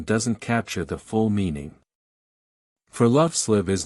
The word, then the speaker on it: friluftsliv: It's called friluftsliv. And it's about far more than just going outside. Friluftsliv is pronounced free-loofs-leave.